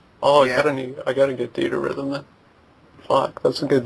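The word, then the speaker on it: Theatrhythm: I can't fucking pronounce that. Theater Rhythm. Theater Rhythm.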